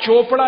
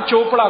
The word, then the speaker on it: चोपड़ा: यहां पे सी एच है तो चा का उच्चारण हो रहा है, ठीक है।